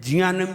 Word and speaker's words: Jnanam: ध्यान रहे, आप न्यू ऑक्सफोर्ड इंग्लिश पढ़िए और उसमें जियानम की स्पेलिंग देखिए। यहाँ कैसे बनता है? एन से, JNANAM, जियानम, JNAN, जियान, AM, जियानम, JNAN, जियान, G/AN नहीं है, ये जी से तो गा बनेगा।